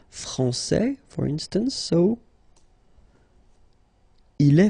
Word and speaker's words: français: Okay, so we've got a little bit the same situation here as we had previously with français and françaises, because we don't pronounce the final S in français, and it's exactly the same thing.